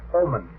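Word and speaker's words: Ahman: One, a gentleman by the name of Sven Oman. That's spelled A-H-M-A-N.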